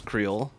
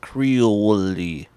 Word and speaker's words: Creole: It's not a sports creole. I said the sports creole. It's just sports creole. Sports creole. It's a place called the sports creole. Yeah. Creole, not creole-y. Like everyone says creole.